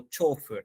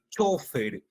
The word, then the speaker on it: chofer: también existe la posibilidad de decirlo como chofer no en otras en otros dialectos La Academia La Academia también señala que hay lugares específicos no Don se menciona la palabra chofer como palabra grave ya repito como palabra